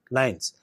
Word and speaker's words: LINEs: interpers nuclear elements that is L and Es pronounced as lines while the satellite markers have been at the